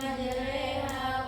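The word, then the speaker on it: مجراها: Ada bacaan imalah majreha. Imalah adalah mengirimkan bunyi patah. pada kasrah terdapat di surah Hud ayat 41. Waqfahu fiha bismillahi majraha wa mursaha inabbiurim.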